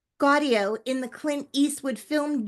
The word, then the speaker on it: Gaudio: audio with a G. Gaudio in the Clint Eastwood film Jersey Boys, reprising his performance from the stage production of the hit musical.